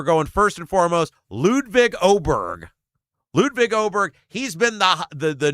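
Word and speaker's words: Åberg: Ludwig Oberg, number 1. Ludwig. Oh, Ludwig. Ludwig Oberg. It's an A, but it's got the circle on top of it, so it's pronounced Oberg. Yeah. Ludwig Oberg.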